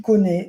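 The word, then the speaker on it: Koné: First of all, it's Kefrin Thuram, and it's Manu Kone. That's how you say it. And Benjamin Pavard. That's how you say their names.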